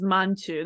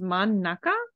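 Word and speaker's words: 真ん中: So you would assume that this is Manchu. That is a totally logic assumption to make. But it should actually be pronounced as Mannaka, I believe. Manchu sounds disgusting. Yep, it is Mannaka.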